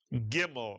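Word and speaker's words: gimel: The name of the letter is gimmel mitsuan.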